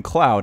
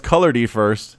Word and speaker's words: ColoUrDFiRsT: GG from color first I've been calling him Cloud haven't I I have all right it's color D first that's so many more syllables though anyway color D